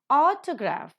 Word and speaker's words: autograph: Autograph, the first syllable is accented.